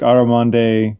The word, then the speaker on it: Armande: Do you pronounce the E at the end? Or is it Armande? Oh, it's all spelled. It's like Armande.